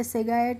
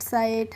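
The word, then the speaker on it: sight: ऐसे आई जी एस टी कहीं पे भी दिखेगी तो आप उसका प्रोनाउंसिएशन इट करके, निगहट, सिगैट इस तरीके से नहीं करेंगे। नाइट, साइट, हाइट, ब्राइट, टाइट इस तरीके से करेंगे।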